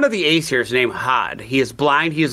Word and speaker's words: Hod: Loki took the mistletoe and pulled it up and went to the thing, Hodor, standing outside, which was another pronunciation of Hod, Hodor.